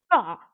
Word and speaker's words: 这儿: R, tu peux le prononcer? 这儿 Jar, jar.